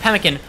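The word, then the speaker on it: pemmican: Uh pronounced pemkin.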